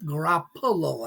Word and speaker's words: Garoppolo: Jimmy yeah Jimmy Ruffalo garoppa Garoppolo I should say uh I knew a